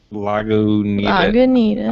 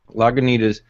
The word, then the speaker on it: Lagunitas: Lagunitas. I say Lagunitas because that's what it's spelt like, but other people have turned.